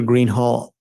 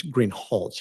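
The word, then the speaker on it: Greenhalgh: you your honor officer Greenhall I believe I'm mispronouncing your name it's green holch isn't it correct okay I apologize will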